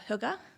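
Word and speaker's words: hygge: if you've heard the concept of Huger h y g g e people kind of PR pronounce it in different ways but Huga is um like a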